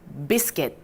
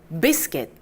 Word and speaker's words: biscuit: 근데 C-U-I-T를 quit 이렇게 하면 좀 이상하죠? kit으로 읽을게요. kit으로 읽어주시면 됩니다. biscuit. biscuit.